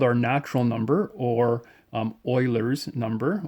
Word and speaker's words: Euler: It's called our natural number, or Euler's number. Euler is a famous mathematician. I know his name doesn't quite look like you pronounce it as Euler, but that's how we say it.